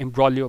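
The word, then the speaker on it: imbroglio: एम्ब्रोलियो होता है extremely confuse, complicated और एम्बैरसिंग सिचुएशन, और यहाँ पे जी हमारे पास क्या है साइलेंट होता है, एम्ब्रोलियो पढ़ते हैं सिर्फ, ठीक है।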